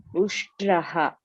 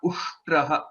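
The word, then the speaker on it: उष्ट्रः: Shakara, takara, and then rakara. So this is half. This is a halanta to say it is half takara, and this is to say it is ra ushtraha.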